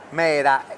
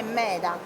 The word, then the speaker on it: meda: Sanluri dopo San no lo so che si pronuncia con la R però si scrive correttamente con la d poi lei lo pronuncia